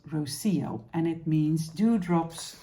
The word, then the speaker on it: Rocío: cardigan is called Rosio last week I was wondering how to pronounce it roio roio Rosio and uh a friend of mine um well she could tell me it was Rosio and it means do